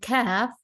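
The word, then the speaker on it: ك: Both are the letters that do sound similar, but one is a heavier one and the other one is a lighter one. So to pronounce heavy, you have to lift the back of your tongue a little bit upwards to make the sound heavier, and it's going to be more like a Q sound in English, cough.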